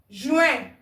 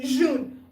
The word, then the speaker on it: Juin: Juin. Répétez, juin. It's not June. Juin.